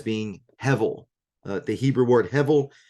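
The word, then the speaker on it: הבל: The Hebrew word hevel, that's spelled H-E-B with an underline, which gives the V pronunciation, E-L, so H-E-B underline E-L.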